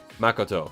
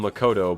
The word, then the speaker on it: Makoto: Your first pronunciation of Makoto is correct. Okay, yeah. Makoto, yeah. Because I know in the game they call him Makoto, but like I've always thought like based on the way the Japanese pronounce it, it's like Makoto. Because it's like it's all the same stress or whatever.